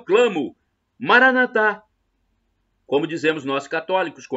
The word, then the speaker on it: Maranatha: Jesus é o tamo Maranatha como dizemos nós católicos com a tônica na última sílaba ou Maranata com a tônica na penúltima sílaba como dizem nossos irmãos separados os evangélicos ou protestantes não importa somos todos